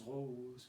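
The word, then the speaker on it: ρ: le note aux pros ça ça se prononce rose que voulaient au x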